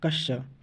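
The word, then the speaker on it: क्ष: question है कि क्योंकि जो छ का सही उच्चारण होता है ना दोस्तों वह होता है कश्य क्या होता है कश होता है कश तो कश यानी कि क के बाद क्या दिखाई देता है श यानी छ आता है तो इसीलिए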